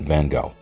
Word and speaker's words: Van Gogh: at this point as I understand that in your part of the world his surname is pronounced Van Gogh I'm not going to do that no offense I'm just not Vincent van Gogh was